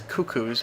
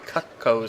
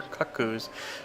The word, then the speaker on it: Cucco: to pronounce that like as a kid I pronounce him as cuckoos but that's not really that doesn't make any sense it should be cut COEs or cut coos so I'm going for